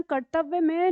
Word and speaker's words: कर्तव्य: तो हम कैसे लिखेंगे ध्यान रखना कर्तव्य में ना हमारा आधा त और पूरा त होता है ठीक है उसके ऊपर यहां पर र लगा हुआ है इस र का उच्चारण यहां पे है कर्त और व्य ठीक है आधा व और य तो कर्तव्य शब्द बन जाता है कर्तव्य का मतलब